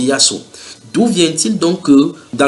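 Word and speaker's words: يسوع: Maintenant, les musulmans sont convaincus, les musulmans arabes prononcent ce Jésus-là par Yassou. Donc en arabe, normalement c'est Yassou.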